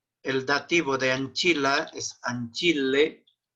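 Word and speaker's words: ancillae: Sí, se pronuncia Anchile, no Anchilae. Anchile.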